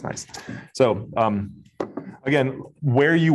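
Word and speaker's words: gneiss: call it good nice but that's just pronounced nice so um again where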